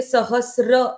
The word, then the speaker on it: सहस्र: ललिता सहस्र नाम राधा सहस्र नाम ये जो वर्ड है सहस्र ये सहस्र ऐसी ही है। इसमें त्र है ही नहीं।